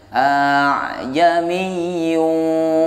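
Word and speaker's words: ءَأَعْجَمِيٌّ: Ini cara bacanya, hamzah yang pertama atau a yang pertama dibaca seperti biasa, a. Ya, dibaca jelas dengan suara yang berat, a, berat. Sedangkan hamzah yang kedua dibaca dengan suara yang ringan sehingga hamzah yang kedua tidak jelas alias samar.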